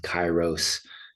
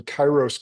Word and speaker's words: Kairos: And so taking a look at what you're doing with Chyros uh coaching and I want to I want to dive right into that too.